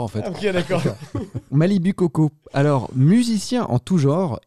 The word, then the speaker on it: Malibu Coco: Alors ça se prononce Malibu Coco. Il y a beaucoup de gens qui disent pas Malibu Malibu.